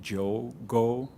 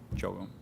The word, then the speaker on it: Diogo: I know it's written with a D, but that's a weird Brazilian pronunciation. So you can actually say Diogo, all in one word, Diogo.